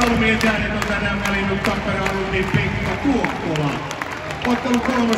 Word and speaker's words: Tappara: I think I'm saying the name of the team wrong, but I'm a big fan because it's emphasis on the first syllable. Tappara.